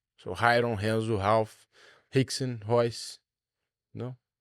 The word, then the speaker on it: Rayron: In Brazil, the R, when it comes in the beginning, sounds like an H. So Rayron, Renzo, Ralph, Rickson, Royce.